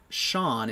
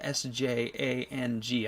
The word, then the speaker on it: Sjang: Sean is how you pronounce his name, but it's spelled S-J-A-N-G.